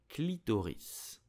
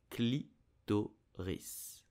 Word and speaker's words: clitoris: You will say clitoris, clitoris, clitoris. You have to pronounce the S at the end to say clitoris. Did you know that the body of the clitoris is suspended from the